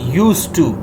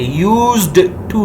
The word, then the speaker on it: used to: So model axillary verb यूज टू, जिसमें याद रखें आप डी को नहीं पढ़ेंगे, वो साइलेंट होगा, आप यूज टू कहेंगे, यूज्ड टू नहीं कहेंगे। यूज्ड टू रॉन्ग होगा, आप कहेंगे यूज टू।